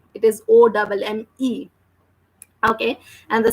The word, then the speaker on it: homme: Now here, this is om. Spelling is HOMME. H is always silent. That's why we are not reading or we are not pronouncing the letter H, and we are just saying om.